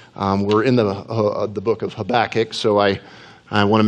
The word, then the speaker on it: Habakkuk: in the book of habakkuk so I I want to make that clear I had that cooky it's just the Hebrew pronunciation of the name but the second reminder